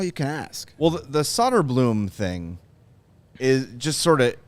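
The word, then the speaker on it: Söderblom: Soderblom.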